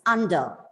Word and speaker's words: under: of the r2 under as the word ends with the letter r it goes silent it is under under pressure makes pens